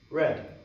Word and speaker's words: read: is what read so what's that in the past tense red it's spelled the exact same way so that's when